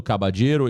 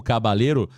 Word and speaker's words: Caballero: É, acho que tá mais para cabadeiro mesmo, viu, Adriano? Acho que você tem razão nesta pronúncia aí, mas é aquela pergunta que vai ser feita ali na coletiva, né? Normalmente o L tem som de de J realmente eh eh nos países sul-americanos, mas eh Adriano, o